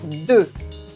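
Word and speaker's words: deux: the journal - is do do as you can hear we don't say the X at the end of do do except when we do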